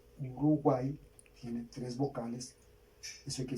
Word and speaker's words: Uruguay: Uruguay. Yo ya les expliqué que la Y al final suena como I latina, entonces vamos a separarla por sílabas.